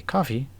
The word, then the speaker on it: Ko-fi: can buy me a coffee on Ko-fi, if you so wish. I know it's probably supposed to be pronounced coffee, but that just doesn't look like the word coffee to me.